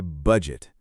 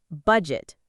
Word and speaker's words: budget: Now, let's try budget. Many learners say this word incorrectly. Yes. The stress is on the first part. Budget, not budget.